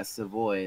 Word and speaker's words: Savoy: I believe that was Savoy. Yeah, Savoy. There we go. Rhymes with Sawyer.